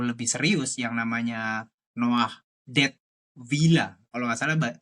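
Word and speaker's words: Dettwiler: serius yang namanya Noah dead villa kalau enggak salah bacanya kayak gitu. Kalau apa namanya? Eh pronunciation eh Jerman ya, karena Swiss kan pakai pakai bahasa Jerman ya, dead villa gitu.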